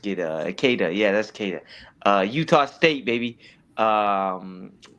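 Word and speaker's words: Queta: Nemius Kada. Oh, that's so easy. I just get uh Kada. Yeah, that's Kada.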